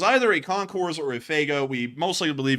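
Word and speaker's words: Fagot: what it's spelled uh f a g o t I'm not kidding that's what the name of the aggm is we're going to call that uh fago um like the drink because I can't say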